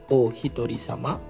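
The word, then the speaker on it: おひとり様: Nah, di sini ada tulisan itu bacanya adalah o hitori sama iteng kagiri. O-nya di sini untuk menghaluskan eh hitori ini artinya satu orang atau bisa juga diartikan sendiri tapi kalau di sini konteksnya satu orang.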